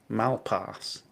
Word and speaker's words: Malpass: um rationality rules pronounced my surname Malpass like he just put an R in there like just so it sounded more like ass it needed to I just said to him there's no R in my name and there's not a single R anywhere I anyway it's